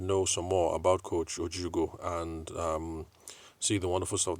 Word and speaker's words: Ojiugo: Sorry, Ojiugo. That's Ojiugo. I've always called it Jugo. And anyway, so she had to correct me that I've been pronouncing the name wrong.